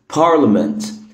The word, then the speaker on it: parliament: parliament parliament parliament parliament. خدت بالك الحرف الصامت هنا هو حرف الاي.